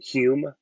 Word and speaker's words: HUUM: I got a stove from really cool company out of Estonia called Hume. Hume, yeah, like HUUM is how you spell it.